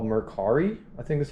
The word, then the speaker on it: Mercari: So real quick, I got this on a website called Mercari, I think that's how you pronounce it, M-E-R-C-A-R-I.